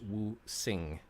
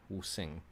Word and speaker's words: wuxing: like a Z, but in Pinyin, which is the Romanized version of Chinese writing, such as languages like Mandarin or Cantonese, the X makes an SH sound, so it's Wu Sing. Wu Sing.